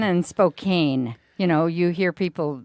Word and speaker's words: Spokane: and I'm not going to say the other pronunciation because well Spokane and Spokane you know you hear people on the news